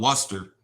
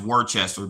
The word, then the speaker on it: Worcester: It's pron No, it's pronounced uh Worcester. It's pronounced Worester, but it is spelled like Warchester. Like look, if you literally look at it at the spelling of it, it looks like it's pronounced Warchester, but it's really pronounced